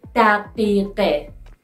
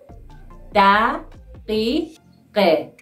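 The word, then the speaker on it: دقیقه: O means and, plus daqiqe, daqiqe.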